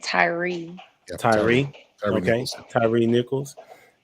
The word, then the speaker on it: Tyre: It seems like they've been pronouncing it Tyree.